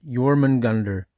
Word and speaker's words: Jörmungandr: Pronunciation rough roughly yorman gander.